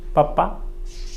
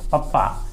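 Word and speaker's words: papa: ये जो है पप्पा, ये लिखा हुआ है वैसे ही बच्चे बोलते हैं पापा, लेकिन ये उच्चारण है इसका पप्पा। प दे दीजिए और यहाँ स्ट्रेस है पप्पा, और उसी तरह से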